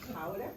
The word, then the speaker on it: Gouda: I don't know how you say it. We say Gouda.